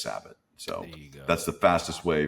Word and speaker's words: Sabat: just became sabath be it should be zabat S z- B- a t but it just became sabath at some point and I joked that I would one day like to change the legal pronunciation of my name there you go uh just so everybody's right but I never correct anyone I'm cool uh but my friends would probably know me as sabot so that's the fastest